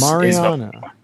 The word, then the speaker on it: Mariana: Mariana Materials like the Mariana Trench.